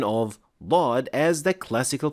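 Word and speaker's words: ضاد: part of their dialect, do pronounce Dhad as a heavy Da. But since we cannot consider all other variations of other letters as classical Arabic, we cannot use this pronunciation of Dhad as the classical pronunciation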